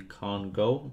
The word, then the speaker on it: Kongou: one and it is called the con go which that's how you say it and you get it